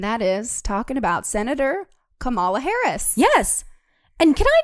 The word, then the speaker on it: Kamala: it like that right kamala kamala yeah the accent is on the first a like in spanish when you put an accent on something yeah it would be on the first day it